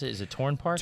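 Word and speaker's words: Tourne Park: You also took me to how do you pronounce it? Is it Torn Park? Torn Park.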